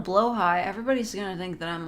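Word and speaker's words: BLÅHAJ: Willingly mispronouncing blahage. I'm sorry, it's just easier to say. Listen, if I call it a blowhigh, everybody's gonna think that I'm, like, out of it.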